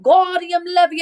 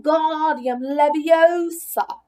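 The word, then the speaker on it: Wingardium Leviosa: much more look when gaudium levy oh stop he shouted waving his long arm like a windmill you're saying it wrong Harry Hermione snap it's when guardian Leviosa make the GAR nice and long didn't you do it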